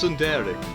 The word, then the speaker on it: tsundere: She's definitely a tsundere. Or tsundere. Actually, it's tsundere. Let's say it. What was it pronounced? Tsundere? Tsundere. You put emphasis on the E at the end, like it's weird.